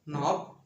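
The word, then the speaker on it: knob: আবার বলছি, ইংরেজি শব্দের শুরুতে কে-এন থাকলে কে-এন এর উচ্চারণ দন্তন্য হবে।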